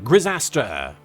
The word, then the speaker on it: Grisaster: Username rhymes with disaster. Grisaster.